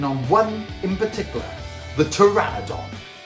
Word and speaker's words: Pteranodon: hello to this baby Pteranodon how amazing is she / name is teri but with a silent P so we actually call her teri ha ha hello I'm